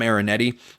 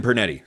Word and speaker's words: Pernetti: a really impressive job by, I think Tom Marinetti is how you pronounce the name of the American Conference Commissioner. And I think he did obviously a great job. Tim Pernetti, sorry.